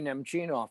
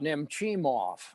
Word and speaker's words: Nemchinov: I had a mental block with Sergei Nemchinov for the longest time. It came out Nemchimov, and I don't know why. I mean, it's only 3 syllables. It's not that hard.